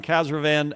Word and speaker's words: Khazravan: Give me the right pronunciation. Like Caravan. Khazravan. Like Caravan. Love it. Yeah, love it. Khazravan, founder of Dealer Cards.